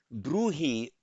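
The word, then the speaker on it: brūhi: Bruhi, bruhi, it's quite unusual in Pali to have a br, a b and an r together.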